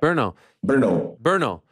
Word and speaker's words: Brno: How do you pronounce the town that you're from? Is it Brno? It's a Brno, yeah. Brno.